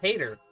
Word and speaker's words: Hayter: The funny thing is his voice is pronounced Hayter, like H-A-T-E-R, but it's spelled H-A-Y-T-E-R, so it still sounds the same.